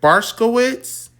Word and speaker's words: Barkovich: What the hell is his last name pronounced? Gary, is it Barskowitz? Charlie Plummer. Oh yeah, Barkovich.